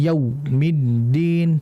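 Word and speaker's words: يوم الدين: Sifat lin pada wau adalah dengan tidak menghentak. Maliki yaumiddin. Tidak harus dialirkan dengan lembut. Maiki yaumiddin. Yaumid yau. Itu kan ada aliran tidak langsung terputus dihentak. Maliki yaumiddin. Nah, ini harus hati-hati. Kemudian jangan dibaca o maiki yaumiddin. Karena ada yang membaca seperti itu ya.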